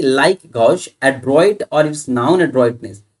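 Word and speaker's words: gauche: मतलब क्या हुआ, गौश, इसको गौश पढ़ते हैं, GOSH, ये प्रोनाउंसिएशन इसका गौश।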